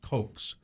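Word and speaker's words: Cocks: him, but his name, I think it's pronounced Cokes, C-O-C-K-S, Jay Cokes. He was a film critic.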